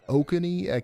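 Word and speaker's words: Oconee: Uh Raven County, Georgia and um Okuni, you guys told me how to say this earlier. I already forgot. Okoney County, South Carolina.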